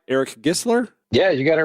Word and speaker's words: Gisler: Eric Gisler?